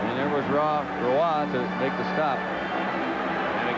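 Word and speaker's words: Roy: He is a French Canadian, but is pronounced Roa, like it's R O I.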